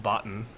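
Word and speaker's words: BOTN: So this is pronounced botten.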